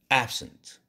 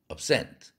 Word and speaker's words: absent: 보통 동사는 앞에 음절에 오지 않으니까, 액센트가 오지 않으니까. 그래서 absent 이렇게 돼버렸어요. absent, absent. 뒤에 cent라는 음절에 액센트가 붙으니까 cent가 아니라 ent 하고서 에 발음이 제대로 난 거죠.